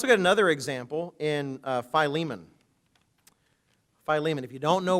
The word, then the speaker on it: Philemon: In fact, even pronouncing it, for the longest time I said Philemon. In fact, Leona Dorothy's here when I was in St. Louis, and you might ask her. I might have said that the first few years I was there.